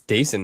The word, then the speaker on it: Dasan: You saw the tools, which is basically what we were promised with Dasan Hill. Yeah. And I actually read it's Dason Hill, like rhymes like Jason.